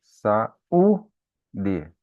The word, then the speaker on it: saúde: Então, saúde. Olha, vejam bem, qual é a sílaba tônica ali, né? É o U. É saúde.